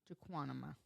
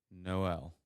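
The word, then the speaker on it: JKMN: Of course, Janu. What is it? Well, I hate to say it, but you are very off. Okay, it is pronounced Noel.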